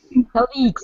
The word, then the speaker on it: colleague: Yes, sometimes my colleagues colleagues only. Yes, colleagues. colleagues. Colleague, yeah, colleague. It will be pronounced this way.